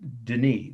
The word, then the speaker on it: Denis: sant s t period denis that's like the word dennis we would say the name dennis d-e-n-i-s last word it's a